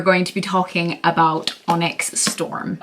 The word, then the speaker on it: Onyx: to be talking about onyx storm every time I read it I want to say oinks like oinks but that sounds like a pig and I know it's supposed to be Onyx besides you're saying it